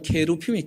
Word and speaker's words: 케루빔: 여러분, 이 그룹이라 우리 어른들이 번역을 했는데, 원래 발음은 케루핌이 케루핌.